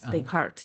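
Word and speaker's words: Descartes: brain and mind from uh the how to pronounce it decart. Decart Deart.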